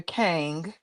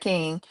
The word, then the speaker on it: Kang: So I had Erica Kang, as I always said, with an A, not an I, because I feel like that's how he say her name, Erica Kang, instead of King, and she wasn't even in a law office.